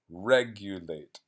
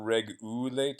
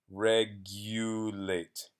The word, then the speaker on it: regulate: this word it's pronounced regulate so the stress is on the first syllable reg and then it's not it's not regulate its you'd so that uses its name in the English alphabet you regulate it's like in Spanish